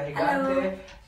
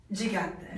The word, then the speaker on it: Gigante: And of course, Binbining Cebu Charity, Maria Higante. Abantayan. Just to for everyone's education, is it really pronounced Higante or Gigante? Gigante. Gigante.